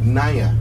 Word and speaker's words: Nanya: She was teaching me how to pronounce her name. So Nanya.